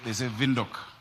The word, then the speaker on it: Windhoek: They say Windhoek. We need to learn how to pronounce it.